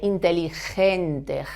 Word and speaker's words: inteligente: you have to say inteligente, ge. The pronunciation in Spanish, the pronunciation of G with an I is ge.